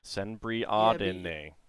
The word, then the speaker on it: Senbriadene: Senbriadene. Okay. If you, Elven bread token. yeah, then the pronunciation makes more sense if you kind of split the E and the A.